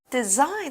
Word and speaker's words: design: Design 这个字呢是图案的意思，那在文章中当名词用，当然它也可以当动词用，代表的是设计。那注意哦，字中 s 的发音是 z 的声音，我们念作 design。那例句说啊，这个包包上特殊的动物图案使它与众不同。那如果我们在 design 的字尾加上 er，what is a designer？设计师。